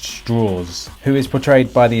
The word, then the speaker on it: Strauss: It looks like Strauss, but it's pronounced Straws, who is portrayed by the impressive Robert Downey Jr.